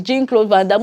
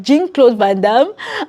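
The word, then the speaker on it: Jean-Claude Van Damme: don't blame you guys because J is like a French way of calling it but Jin it just sounded so off in my ears like Jin cloth vam and then when Lawrence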